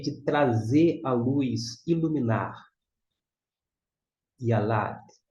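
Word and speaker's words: יָלַד: Número 8. Yud com o Kamitz fica Iá. L com a Lá. E aqui é o nosso Dalet. Yalad. Yalad é a ideia de trazer a luz, iluminar. Yalad.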